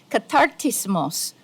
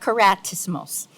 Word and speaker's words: Katartismos: It should actually be, just as my sister here pronounced it very correctly, katartismos global, not karatismos.